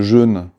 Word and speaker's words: jeûne: de soulager tes symptômes, mais le jeûne, Oui, parce qu'on devrait le prononcer comme ça, oui.